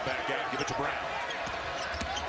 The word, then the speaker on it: Braun: He'll pull back out, give it to Brown. Spelled like Braun. Pronounced like Brown.